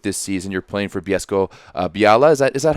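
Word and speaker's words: Bielsko-Biała: You're playing for Bielsko Biala. Is that how you pronounce it? Bielsko Biala, yeah. The L has like a slash through it. Makes a weird sound.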